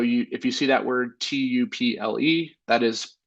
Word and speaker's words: tuple: We'll talk about tuples. So if you see that word tuple, that is some people pronounce it tuple. I like to call it tuple, but that is going to be very similar to an array.